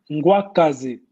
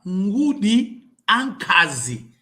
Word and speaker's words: Ngudi Ankazi: Ngwakazi. Não. Ngudi Ankazi. Ngwakazi é uma abreviação de uma outra... Porque o humano tem que saber pronunciar bem as palavras.